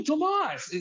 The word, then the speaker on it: Tomas: He goes, oh, Tomas.